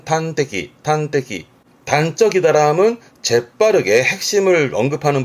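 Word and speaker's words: 端的: 그래서 단적이란 말을 하는데 발음은 탄테키.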